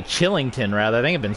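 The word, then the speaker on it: Kylington: whole time seeing that k instinctively saying killington but it's chillington oliver chillington so my apologies there because i'm pretty sure i've been saying killington this whole game with the k but it's a silent k it's a chillington oliver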